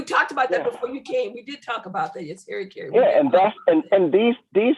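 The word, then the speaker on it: harakiri: You know, the Japanese had a term called, and I hope I pronounce it right, harikiri.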